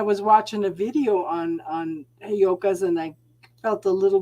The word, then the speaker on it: Heyoka: Heyotas? They're Heyoka. Heyoka.